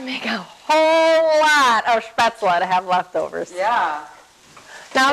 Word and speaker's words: Spätzle: spetz, Shh. It's an SH sound. Spätzle. spätzle. Yes. There's an L in there.